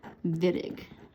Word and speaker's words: Wittig: wittig reaction so notice although it is spelt with a w we pronounce it with a v wittig okay all right and